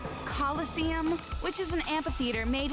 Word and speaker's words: Colosseum: it right there's no such thing as the killest scene yes no what it's pronounced coliseum which is an amphitheater made in ancient rome